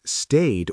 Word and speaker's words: stayed: But stayed or played has a softer d sound.